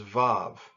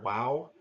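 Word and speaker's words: vav: the next letter is volve in a classical pronunciation they might call that a Wow but in a more modern translation pronunciation they would call it evolved the transliteration some might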